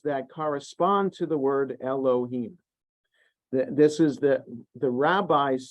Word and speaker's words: Elohim: yeah the Adonai and and yet you know to pronounce it Elohim okay so Adonai Elohim